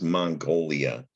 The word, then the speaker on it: Mongolia: Similar to magnolia, starts with the syllable mong. The N comes before the G, right? Mong, there's gal or goal. Leah, yeah, this is Mongolia.